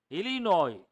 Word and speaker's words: Illinois: that set over no Illinois underline the letter s as is silent Illinois was incorporated which